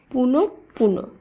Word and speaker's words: পুনঃপুন: শুদ্ধ উচ্চারণ হবে প্রাতকাল পুনঃপুন এটি ভুল উচ্চারিত শব্দ শুদ্ধ উচ্চারণ হবে পুনঃপুন কারণ এই শব্দে বিসর্গের পরে রয়েছে প বর্ণটি তাই প বর্ণটির দীপ্ত উচ্চারণ হবে বা প বর্ণটি দুইবার উচ্চারিত হবে তাই শব্দটি শুদ্ধ উচ্চারণ হলো পুনঃপুন এই একই সূত্রে ছন্দপতন